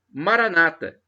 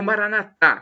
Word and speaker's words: Maranata: E agora eu tenho uma expressão, Maranata, como dizem os evangélicos, os protestantes, com a tônica na penúltima sílaba, ou Maranatá, como dizemos nós católicos, com a tônica na última sílaba.